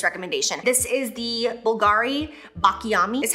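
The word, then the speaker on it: Baklamì: This is the Bulgari Bakla Yami is how you pronounce it.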